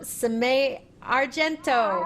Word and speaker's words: Simay Argento: Welcome, Simay Argento.